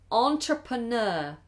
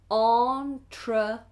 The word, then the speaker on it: entrepreneur: one here from Alec has said how to pronounce entrepreneur entrepreneur entrepreneur entrepreneur if you are an entrepreneur you